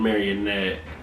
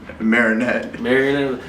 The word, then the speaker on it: Marinette: I think I was shooting a show with Ace on Marionette. And they Marinette. See, when you below Green Bay, you're gonna say it like that. There's no O. It don't gotta be a O.